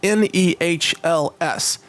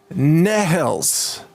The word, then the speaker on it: Nehls: interview, by the way, his last name is spelled Nehls. Nehls. I'm not trying to make fun of his name. I'm just trying to sort of pronounce all the letters. It's Nehls.